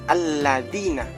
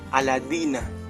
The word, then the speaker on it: alladzina: Nah, alladzina yang kita ketahui jadi lamnya itu ada tasidnya. Jadi bacanya alladzina gitu. Nah, ini bisa paham ee ada yang anggaplah kayak pas berubah. Jadi kata aladina itu bisa merubah makna gitu.